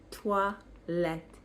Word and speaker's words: toilette: And the word is toilette.